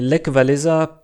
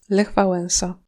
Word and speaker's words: Lech Wałęsa: Et Lech Walesa, personne sait qui c'est en Pologne parce que son nom se prononce... Lech Wałęsa.